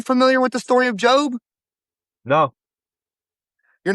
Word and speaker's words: Job: It's spelled Job, like job, but it's a Okay. name, and his name is Job.